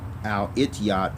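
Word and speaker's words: الاتحاد: It is actually pronounced Al-Ittihad in the Arabic language.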